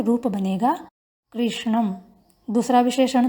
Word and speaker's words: कृष्णम: उच्चारण करते समय ध्यान रखेंगे कृष्णम में मूर्धन्य श है, कृशा में तालव्य श है।